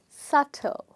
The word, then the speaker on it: subtle: word we have is subtle okay now you already guessed that there is one letter in the word which is silent and that is be okay now to find